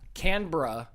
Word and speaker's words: Canberra: or is it Melbourne I think you have to get rid of a syllable there I think it's more like camera canbra or Melbourne Melbourne Melbourne